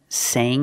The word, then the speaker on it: sang: Sing in the present, sang in the past. Use the long A sound.